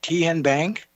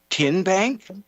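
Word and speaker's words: TNBank: Ten Bank? Nope. Tin Bank. Uh-uh. So, what is it? Tenbank. 10 as in Tennessee.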